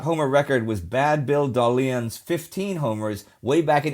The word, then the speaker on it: Dahlen: Before 1925, the shortstop homer record was Bad Bill Dahlen's 15 homers way back in 1894. And yes, that is how you pronounce his last name, Dahlen.